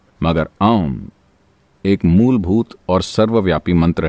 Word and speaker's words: ओम: से किया जाना चाहिए अम मंत्र में तीन आवाजें हैं आ उ और म यह आ उ और म जब आप इसका उच्चारण करते हैं तो उन्हें लगभग बराबर होना चाहिए और आपको नाभी के